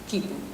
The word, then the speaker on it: quipu: Esta es una palabra quechua y la normalización significa así es como se debe pronunciar, quipu.